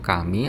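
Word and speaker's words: 神: seperti begini ya Jadi ada tulisan Jepang dibacanya itu kami artinya Tuhan atau bisa dibaca juga dalam bahasa Cina dibacanya send artinya juga Tuhan untuk bagian badannya ini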